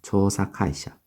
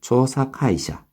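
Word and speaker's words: 調査会社: 초사카이션 의외로 발음이 어려워요 초사 카이샤 왜냐하면 장엄하고 단음들이 섞여 있거든요 초사 카이샤 그죠 조사카이샤 그래서 초에서 장음이 있어서 초사 단음이죠 초사 카이이 발음이죠 올라가죠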